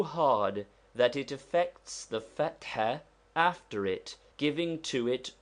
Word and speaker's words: fatha: Fatha, to be pronounced with a roughly aspirated ha, which we have indicated by a dot under it, and which is somewhat like HH or doubly strong H. It is also somewhat like a deep sigh. Be sure you do not run the t and h together, making th. Note, fat is the first syllable and ha the second.